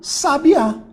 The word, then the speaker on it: sabiá: análise aqui ó ó eu tenho aqui sabia beleza a tônica tá aqui ó essa aqui é a minha sílaba tónica sabia agora se eu trocar a minha sílaba tônica de lugar e botar o acento eu voltei aqui ó um sabiá então eu tinha aqui ó